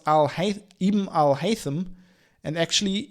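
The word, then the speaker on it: al-Haytham: pronounce al hai ibm al haitham and actually your first attempt was the best as it should be pronounced with a soft th he also sent me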